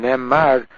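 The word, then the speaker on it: נאמר: Ne'emar, v'sham ne'emar, the mem is with a patach, not with a kametz.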